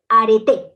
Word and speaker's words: areté: ahora con el arete arete no es arte es arte con acento en la e y para esto es